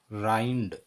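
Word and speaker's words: rind: उसी प्रकार आर आई एन डी, इसका उच्चारण होगा राइंड।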